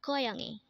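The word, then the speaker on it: 고양이: Korean term for a student next word is koyangi again this is pronounced as koyani and this is the Korean term for catch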